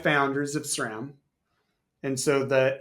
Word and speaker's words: SRAM: And it's the way we teach it is Sri Lanka SRAM. It's the same SR.